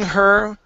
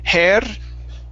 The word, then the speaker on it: her: let's see here pushing her with all her might so we're working on the words her so instead of hair pushing hair it's pushing her pushing her with all